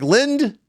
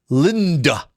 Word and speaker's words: Lind: Kaufman, Kaufman, Linda, Lynd. How did you fit 2 syllables in 4 letters? Linda. I'm like, Lind. No, it's not. It's Lind. Lind. One syllable.